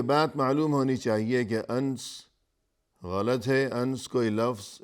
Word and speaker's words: انس: بھی مناسب ہوگا کہ ان کا نام انس ہے، جبکہ بہت سے لوگ اس کا تلفظ انس کیا کرتے ہیں، اور اسی